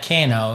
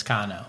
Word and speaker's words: Cano: Yeah, it's spelled Cano, so it's not Cano. It's because in Spanish the A is ah sound. It's not O. It's not like Cano. It's Cano.